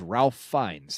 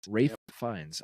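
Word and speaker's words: Ralph Fiennes: um oh crap because I thought for sure it was Ralph fees that's how I've always pronounced it was Ralph fines I didn't know that it was you said Rafe ra fines Rafe fines okay so that was that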